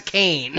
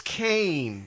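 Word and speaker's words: Kaine: It's spelled K-A-I-N-E. In English, right. That's Kane. It's Kane.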